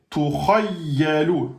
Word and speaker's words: tukhayyalu: Donc là, vous avez tukhayyalu. Donc attention ici, il faut insister. Tukhayyalu. Et là, c'est lou, hein, c'est pas l'eau. Tukhayyalu.